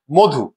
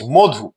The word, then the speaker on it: মধু: মধু ম এর সাথে অকার আছে এরপরে উকার আছে যার ফলে ম এর সাথে অকারটি ও এর রূপে উচ্চারিত হচ্ছে মধু মধু আমরা দুই নম্বার উদাহরণে